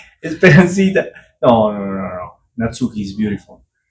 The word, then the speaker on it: Natsuki: pronunciating your name in Japanese how would look how is natski natski it's like more flat natski natski